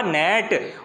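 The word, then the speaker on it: gnat: होगा साइलेंट जी होगा, क्योंकि इसे बोला जाएगा नेट, और जी इसमें होगा आपका साइलेंट।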